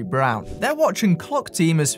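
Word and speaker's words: Braun: to German design is Brawn yes these are marketed as Brawn in the UK so that's how I'll be pronouncing it even though it technically should be brown they watching clock team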